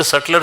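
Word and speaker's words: subtler: Wrong somewhere in द सटलर system S यू बी टी एल इ आर एस यू बी टी एल इ आर सलर B silent है।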